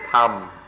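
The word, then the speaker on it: ธรรม: In Thai, they don't even try, they just pronounce it tham.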